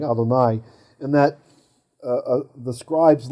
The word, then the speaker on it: Adonai: but yet it's pointed the messoria is telling us this to pronounce it adonai that the way it was memorized by them was adonai right but the text